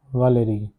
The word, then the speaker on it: Valérie: The first sentence is Je n'appelle pas Valérie. This is pronounced as Valérie.